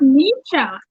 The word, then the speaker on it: Neysha: Is that how you say it? Neysha? It's Neysha. Neysha.